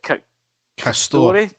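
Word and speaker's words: Castore: The actual kit manufacturers, Derek, if it is the case that it is this, how is it you pronounce it? Castor.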